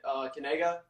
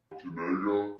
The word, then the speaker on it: Kanega: It's Noah Kanega. You say it Kanega. Kanega. Like that. What do you mean by that? See, that's the key. It's Kanega. There you go.